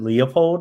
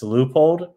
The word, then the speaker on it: Leupold: Like I always called it Leopold and I heard it's Leupold.